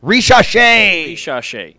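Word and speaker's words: Risacher: Ricochet.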